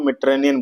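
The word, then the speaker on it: Mediterranean: हाँ, मेडिटेरेनियन को मेडिटेरेनियन बोलते हैं, यहाँ पे डी जो है साइलेंट जैसा हो जाएगा।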